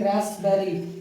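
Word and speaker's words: raspberry: Psychiatrist, psyche, psychology, psychotherapy, psychotic, psychotic, रास्पबेरी, रास्पबेरी, रास्पबेरी नहीं, इसको P silent है, इसको बोलेंगे रास्पबेरी, ठीक है।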